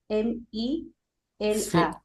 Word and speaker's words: Luzmila: Luzmila. Cmila. Ok. Oui. Et je prononce Luz Mila. Lousmina. Luz C'est bon? Mila. D'accord. Très bien. Ok, enchanté, Lousmila.